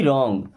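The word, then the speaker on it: wrong: मी means मुझे रंग डब्लू के बाद कभी भी अगर आर आ जाए तो डब्लू होगा हमेशा के लिए साइलेंट यानी उसको नहीं पढ़ा जाएगा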